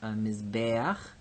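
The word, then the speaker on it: מִזְבֵּחַ: So here we have mizbeach. This tsere is happy because it's in the accented syllable, mizbeach. But if we make the plural, mizbachot, ot is our feminine plural ending.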